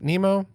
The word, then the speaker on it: Mnemo: It's Mnemo. I think it's pronounced Nemo.